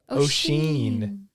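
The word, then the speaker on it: Oisín: okay okay next one o-i-s-i-n awesome Hey listen get over here okay you ready ocean yeah it's kind of like your your mom's maiden name Sheehan yeah ocean and then last one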